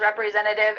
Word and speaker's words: representative: You might notice that the T, the first T in this word, I'm cutting out. You can pronounce it. You can say I'm a sales representative in the middle of that word, but you can just cut it out too.